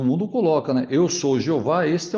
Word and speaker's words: Jeová: Ele já está dizendo que a pronúncia do nome de Deus é Jeová, visto que os nomes